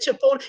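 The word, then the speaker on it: chipotle: a't that look that's you said that's believable chipot did I say it wrong y'all no you said it right you did fine they said chipot cuz see my son know I don't like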